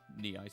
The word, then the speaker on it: Nei: I know it's Nei in Japanese, but I've been saying Nii since I was a little kid, and technically in English, that's another way you could pronounce it in English.